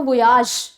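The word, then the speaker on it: voyage: French word वैसे तो वोयाज right वोयाज ये फ्रेंच वर्ड्स है वहां से ये इंग्लिश में ड ऑन किया गया है एंड इसको प्रोनाउंस वॉयज या वोयाज दोनों तरह से कर सकते हैं राइट इसका मतलब है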